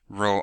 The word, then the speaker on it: Rho: we have a P looking thing that's called Rho okay so we pronounce that as Rho Rho or like Rho R over R oh